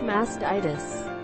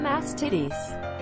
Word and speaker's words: mastitis: epsom salt baths and it's pronounced mastitis not masked titties long